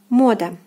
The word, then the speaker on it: мода: Мода, мода, мода. Again, O is stressed here, and the translation is fashion.